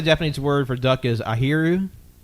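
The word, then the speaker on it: あひる: it apparently apparently Defan word for duck is airu how do you spell that a h i r u okay we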